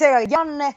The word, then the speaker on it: Janne: I'm sorry, forgive my mispronunciation. Is it Janne? Janne. Jan. Sorry. Yes. It's okay, but it's Janne, Joona, Juuso.